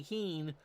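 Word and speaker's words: Kuenn: got in trouble well I got spoken to about how I pronounce qu or kenn's last name but Harvey as most of you probably have heard was the 27th out in sy's perfect game in 65 and if it's good enough for Vinnie Scully to say two and two to Harvey keing then that's how I'm going to pronounce it too here's Mar Wills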